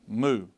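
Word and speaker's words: mu: line again it's all one stroke little tail moo m m moo moo okay let's look at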